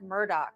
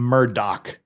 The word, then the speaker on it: Murdaugh: See, Law and Crime's calling him Murdaugh, But everyone I've heard, including the judge and everything, is Murdaugh, and it's spelled Murdaugh, so we're calling him Murdaugh.